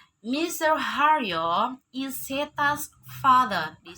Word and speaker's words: Mr.: Haryo, Mrs. Endang. Oke, apabila ada nama, sebelum nama ada kata MR, itu berarti bacanya Mr.